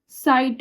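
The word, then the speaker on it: Zeit: जीवन नेक्स्ट देखते हैं जेड ई आई टी क्या हो गया? साइट हो गया। साइट कैसे हो गया?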